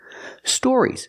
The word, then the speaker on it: stories: stories she means stories stories with the or sound like floor and More Store stories stories make